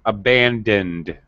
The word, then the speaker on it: abandoned: Okay, pronunciation-wise, abandoned. Abandoned. Okay. Don't add an extra syllable to the past tense ending.